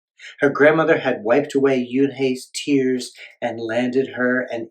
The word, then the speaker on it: Unhei: "Une?" the girl asked, scrunching up her face. Une," some kids chanted. No, Yoon-hae corrected. "It's spelled Unhei. It's pronounced Yoon-hae."